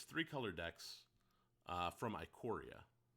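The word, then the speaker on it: Ikoria: so it's three color decks uh from iquoria i think it's iquary and not aquaria just depends on what kind of uh pronunciation they went with yeah um i gotta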